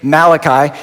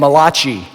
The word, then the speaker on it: Malachi: Malachi and it's actually you say his name Malachi he wasn't an Italian prophet named mulashi Malachi is how you